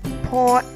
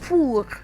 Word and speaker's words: pour: So the same word that you would have said pour in English, in French you would say pour.